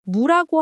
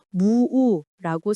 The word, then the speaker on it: 무: 여러분은 무라고 하시나요? 무라고 하시나요? 사실 표준어는 무가 맞습니다. 예전에는 발음을 길게 해서 무우라고 쓰는 경우도 있었지만 현재 표준어 규정에서는 짧게 무라고 정리했어요.